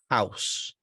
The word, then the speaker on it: house: how house shout Brown this is a really good example of of of a diphthong that's mispronounced you have to open your mouth to get this sound you have to get the ow ow sound in there okay otherwise it will have a different meaning it'd be a different